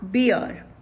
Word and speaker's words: beer: words before us are beer beer here r is silent then delicate delicate delicate